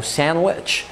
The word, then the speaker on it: sandwich: قبلها ان يا اما تبقى الدي سايلنت في كلمات سايلنت يعني ما بننطقهاش خالص في كلمات زي handsome handsome يعني شكله جميل كده او sandwich واحيانا بنتكش عليها في